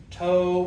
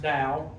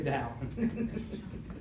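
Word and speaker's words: Tao: A lot of people their first question is so what's this toe or towel or it's actually pronounced dao which whoever came up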